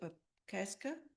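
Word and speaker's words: upekṣā: I've been doing a bit of how do you pronounce it? Upeksha, Upeksha.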